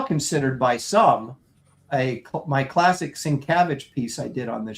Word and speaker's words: Sienkiewicz: Well, maybe if you said it right and you didn't say Sienkiewicz. I didn't say Sienkiewicz. I said Sienkiewicz. It's Sienkiewicz. Sienkiewicz.